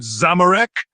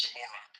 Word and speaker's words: Zamorak: Someone named Zamorak? Not what I'm saying at all. My name is Zamorak, not Zamorak.